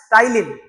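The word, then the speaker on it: ptyalin: That is टाइलिन। पी टी वई एल आई एन। यहां पे पी साइलेंट होता। तो टलिन।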